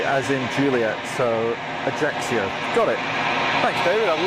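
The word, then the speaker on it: Ajaccio: You pronounce it Ajaxio. Axio. Ajaxio.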